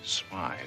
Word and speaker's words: Smythe: Look, Mr. Smith. Smythe. It is pronounced Smythe.